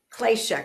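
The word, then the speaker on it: klesha: Moia spell it clatia.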